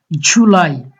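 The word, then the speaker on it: July: জুলাই, আমরা নর্মাল যে জুলাই বলি এরকম না, উচ্চারণ হবে জুলাই।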